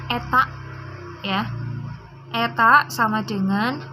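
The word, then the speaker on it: η: Nah, secara matematis efisiensi disimbolkan dengan, ini bacanya eta, ya.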